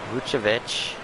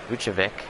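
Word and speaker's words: Vučević: up gets fouled by muchovich luchavic that's how you say it and tobias harris will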